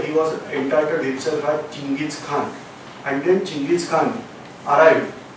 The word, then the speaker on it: Chinggis Khan: And then he entitled himself as Chinggis Khan. We are calling wrongly as Genghis Khan, the pronunciation is Chinggis Khan.